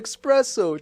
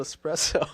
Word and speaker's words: espresso: you been saying yes why they call it expresso takes long to make and then my friend is like you know it's called espresso espresso I'm also kind of